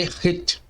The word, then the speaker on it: Het: Podemos encontrar em outras fontes seu nome como sendo Het, Reit ou Reite. Contudo, a pronúncia correta é Het. A forma simplificada desta letra que você pode treinar é exatamente essa daí. E o seu valor numérico, o fonético, é como se fosse o H fortemente pronunciado. Soa-se como o CH do alemão, em burro, tá? Esse R bem aspirado ali, tá bom?